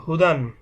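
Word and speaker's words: هُدًى: মা হা পেশ হু দাল দুই জবর দান হুদান দেখুন এখানে একটা ইয়া দেখা যাচ্ছে এই ইয়াটা লেখার ক্ষেত্রে আসে কিন্তু উচ্চারণের ক্ষেত্রে ইয়াটা উচ্চারণ হবে না শুধুমাত্র যখন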